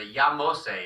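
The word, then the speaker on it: Yahmose: Well, I listened to an audio thing and it pronounced it much to the Yamose is how they say it on the audio thing.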